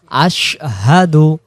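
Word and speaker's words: أَشْهَدُ: আশহা দাল পেশ দু আশহাদু আশহাদু আশহাদু আগে বলে নেব আশ এরপরে হাদু এভাবে আশহাদু আল্লা ইলাহা ইল্লাল্লাহ ইল্লাল্লাহু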